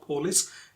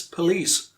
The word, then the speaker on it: police: Most of us know the correct pronunciation. It's not police, it's police.